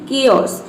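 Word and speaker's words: chaos: एच आना चाहिए तो उसमें हम एच को प्रोनाउंस नहीं करेंगे। जैसे कि देखिए यहाँ पे एग्जाम्पल है कियोस, इसमें सी के बाद क्या आया है, एच आया है, इसमें एच जो है वो साइलेंट है।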